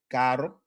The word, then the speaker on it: caro: Caro. Right. Once again, the single to double R change is significant.